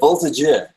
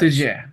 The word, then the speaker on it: Voltigeur: It's the Voltigeur. It's French. Voltigeur.